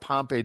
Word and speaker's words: Pompe: Start out soft by telling us what Pompei disease is. I got that right. Did I pronounce it right?